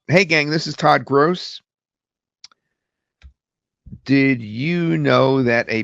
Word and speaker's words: Gross: Hey gang, this is Todd Gross. Now, sometimes it gets my name wrong. It says Grass, so I'll write Gross like that, which sometimes it pronounces Gross, but it's closer.